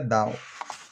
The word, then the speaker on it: Dunn: teologia Paulina tão o James Down se escreve da mas a pronúncia Down na ele foi um